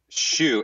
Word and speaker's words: Shew: maybe mess it up shoe s-h-e-w uh like that like the tennis shoe yeah yeah but it's